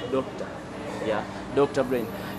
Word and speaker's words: Dokta: But it's easy to pronounce it as Doctor.